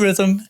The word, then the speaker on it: Rithm: That's where rhythm is spelled RITHM, like algorithm.